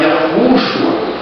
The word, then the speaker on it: Yahushua: A pronúncia você pode muito bem pronunciar Yaorushua, você pode pronunciar Yahushua, né? Quanto à pronúncia, ela está dentro de uma semântica do idioma hebraico. Você pode pronunciar dessas duas formas, o que na realidade